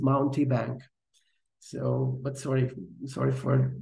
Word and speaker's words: Mountebank: I I think I I'm not pronunciating mountbank correctly but I got used to it because we used this way in our project earlier so I think the the proper pronunciation is mounty Bank so but sorry sorry